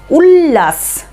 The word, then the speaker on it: উল্লাস: এরপরে দেখো হ্রস্ব লয়ে লয়ে আকার দন্তস্য, উল্লাস উল্লাস, লয়ে লয়ের উচ্চারণ একদম পরিষ্কার বোঝা যাচ্ছে, উল্লাস উল্লাস মানে আনন্দ, তো উল্লাস, হ্রস্ব লয়ে লয়ে আকার দন্তস্য, উল্লাস।